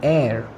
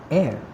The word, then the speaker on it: heir: a vowel sound as the initial consonant h is not pronounced. Yes, even if they have h, which is a consonant in the start, still they start with a vowel sound. Honest, hour, heir.